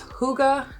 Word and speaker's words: hygge: other books too like the book of it's hygge the little book of hygge spelled like higgy he has a whole series but